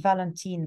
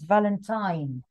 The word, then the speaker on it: Valentine: to the second paragraph you repeated Valentin Valentin but it is Valentine now you know it's an eye Valentine okay um Valentine's